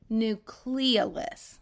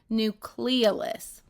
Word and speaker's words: nucleolus: Okay, I want you to be aware of how we pronounce that. Nucleolus. That is a short O in it. I know a lot of times you hear it otherwise, but that is absolutely 100%.